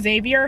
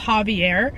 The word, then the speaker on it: Javier: Oh my goodness, I just realized I keep saying Xavier. His name is pronounced Javier. I've been saying it wrong this whole time.